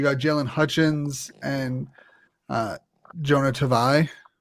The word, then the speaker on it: Tavai: And on defense, you got Jalen Hutchins and Jonah Tavai. Tavai? Is it Tavai or Tavai? Tavai. No, you said it right the first time.